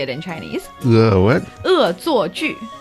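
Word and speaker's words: 恶作剧: So we say 恶作剧. That's how you say it in Chinese. What? 恶作剧.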